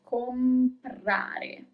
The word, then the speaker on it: comprare: You pronounce all the letters, comprare.